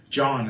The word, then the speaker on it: John: my real name folks John is my name all my birth certificate j-o-h-n um and I'm not a fan of silent letters and I have to have one in my name that's useless that's not what I